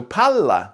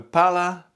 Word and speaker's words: palla: Lots of languages have long vowels, but Italian also has long consonants like Finnish. So palla means ball, but pala, with just one L, means shovel. So palla, palla. Can you hear the difference?